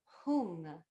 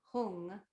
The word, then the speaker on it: hung: And the syllable is hung. H like Harry, U, N like Nancy, G, like it starts with a G. I don't know, hung.